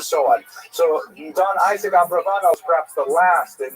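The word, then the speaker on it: Abravanel: uh late 15th century as we see in Abraano. Uh much of this material is drawn from a very famous biography of Don Isaac Abraano. I should mention by the way many people pronounce the name uh Abarbanel and that's because of the uh it's much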